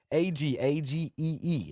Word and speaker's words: AG: AGEE.